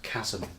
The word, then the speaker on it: chasm: But, It's with a silent H as well, which is even better. It's a CH that sounds like a K.